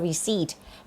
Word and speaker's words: receipt: receipt Please ใบ เสร็จ ไม่ อ่าน ว่า receive นะ คะ อ่าน ว่า receipt can i get a